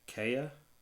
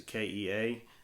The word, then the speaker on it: Kea: slower speed disc and i think that's pronounced the kaya it's a kea and then the kahu